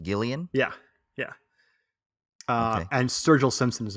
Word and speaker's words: Gillian: It's kind of Gillian spelled with a G, like Jillian, but Gillian.